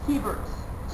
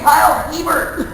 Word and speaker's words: Hebert: know that around here there's a big candy company called hebert's about the same way at the hebert's mansion so okay around here but this is everywhere called yeah so whenever i see him at a convention i'm like i'm like hey kyle hebert and hey chris irons